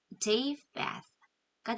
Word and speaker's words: Japheth: 이 PH는 phone 할 때처럼 F 발음인 거 기억하시고요. Japheth가 되겠죠. 이 뒤에는 th 발음입니다.